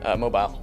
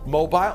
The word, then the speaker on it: mobile: The same word can be pronounced 3 different ways depending on whether you mean able to get around, a form of sculpture, or an Alabama city.